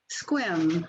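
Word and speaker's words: Sequim: hello i live in squim just to tell you how it's pronounced squim like swim it's on the olympic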